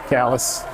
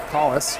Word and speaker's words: Collis: Callis hitting the bench. Collis, rather, is how she pronounced it to me.